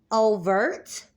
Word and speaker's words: Ouvert: But again, the word Ouvert or Ouvert, Overt. You can also say it like overt.